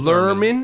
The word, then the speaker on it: Lerman: interview with somebody yeah did I pronounce it learn it or let Lehrman it's learning guys it's Lerman yeah it's really anything you